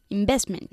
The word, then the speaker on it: investment: Investment. Investment. La V es importante, ¿eh?